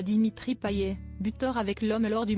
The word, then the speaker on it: Payet: Ancien journaliste sportif, le chroniqueur Mohamed Bouafsi n'a pas hésité à faire un petit clin d'œil à Dimitri Payet, buteur avec l'homme lors du match du dimanche soir face à Angers.